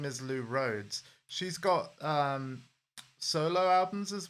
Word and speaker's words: Lou Rhodes: Like, if you've ever heard of the electronic duo called Lamb, the lead singer of Lamb, her name is Lou Rhodes.